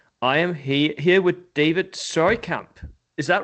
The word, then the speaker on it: Seurkamp: I am here with David Seurkamp. Is that right? That's correct. Surkamp, yeah. Seurkamp. It's a Okay. very hard name to spell and pronounce.